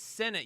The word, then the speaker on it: Sinnott: Sinat, my last name is Sinnott. You always say it wrong.